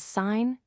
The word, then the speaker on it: sine: In mathematical equations, you will see them abbreviated as SIN, COS, and TN, but we pronounce them as sine, cosine, and tangent.